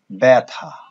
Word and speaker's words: ব্যথা: শব্দের প্রথমে যদি জ ফলা থাকে, এখানে আমি সংক্ষেপে লিখেছি, যদি শব্দের প্রথমে জ ফলা থাকে, তাহলে দেখা যায় সেটা এ রূপে উচ্চারিত হয়।